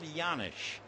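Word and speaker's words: Janish: two down and Paul yanish the name begins with a J but you pronounce it like a y and he takes the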